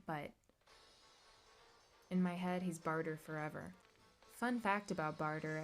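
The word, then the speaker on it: Bartre: a very sad sight how do you guys pronounce barter I'm like almost a hundred percent sure it's Bart ray because that's how I hear other people pronouncing it but in my head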